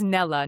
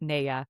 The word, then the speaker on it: Nella: And she says Nella, not nea.